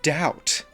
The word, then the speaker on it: doubt: But what about words like doubt? B being there is so weird to me because if you take it out, the O and the U would make it sound like you're pronouncing it as doot because of words like would, could, boulder. Jesus, there are so many